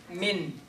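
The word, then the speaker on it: مِن: noon is coming Now, this is not ikhfa, so we're going to pronounce the noon correctly. Min. My tongue is at my the front where it's positioned, and I got nasalization.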